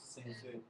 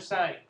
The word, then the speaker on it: sin: abbreviation for sign is Sin Sin okay it's spelled s n but it's not sin it still stands for sign all right I know